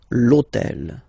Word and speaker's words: hôtel: this hôtel, okay, because it starts with H, but remember that in French we don't pronounce H, okay, so basically the first sound of the word is the vowel O, okay, so for the same reason, needs to disappear.